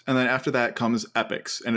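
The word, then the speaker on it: epochs: then after that comes epics and it's spelled e-p-o-c-h not epic although it is pronounced the same so this is a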